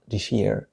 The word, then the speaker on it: this year: عندما يتحدث الإنجليزيون, ناطقون بالإنجليزية كلغة أم بشكل سريع, فهم ينطقون هذه العبارة this year, this year.